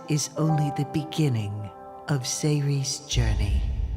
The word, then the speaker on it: Sayri: We saw some puzzle gameplay, a little bit of jump and run, and it's called Sayri. That's how you pronounce it.